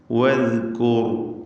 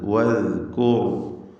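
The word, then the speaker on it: وَاذْكُرْ: വദ്കൂർ, വാവ് ചുണ്ടുകളിൽ നിന്ന് ഉച്ചരിക്കണം. ചുണ്ടുകൾ വൃത്താകൃതിയിലായി ഇടക്ക് ചെറിയ വിടവോടുകൂടിയാണ് വാവിൻ്റെ ഉച്ചാരണം ഉണ്ടാവുക. ദാല് കൃത്യമായി മഖ്റജിൽ നിന്ന് ഉച്ചരിക്കുക. നാവിൻ്റെ അറ്റത്തിൻ്റെ മുകൾ ഭാഗം മേലെ മുൻപല്ലിൻ്റെ അറ്റവും ചേർത്ത് ദാൽ ഉച്ചരിക്കണം.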